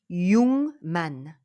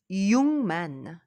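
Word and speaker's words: 육만: prononciation ça se prononce yungman yungman et pourquoi la lettre gu suivie par la lettre N ou alors m ça devient NG NG donc youman yungman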